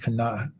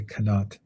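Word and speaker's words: qanaat: Arabic and Turkish, is kanat. And well, Arabic, it's hard to pronounce. It's got that kind of glottal sound at the end, kanat. In Turkish, they simplify it and they just say kanat.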